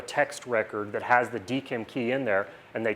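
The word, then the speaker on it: DKIM: geek em key and I pronounce that DCAM I don't know if either everyone else does it's like digital key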